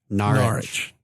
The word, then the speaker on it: Norwich: we have been corrected how do you say it again narshe Norwich what a three